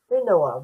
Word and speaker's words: Hunua: No, Huna Hunua ranges.